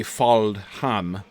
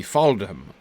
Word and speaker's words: Faldham: in Rohan, and so presumably the pronunciation would be Anglo-Saxon standards rather than Sindarin standards. So, because I assume it would be Faldham, and not the DH in Elvish. So it would probably be Faldham.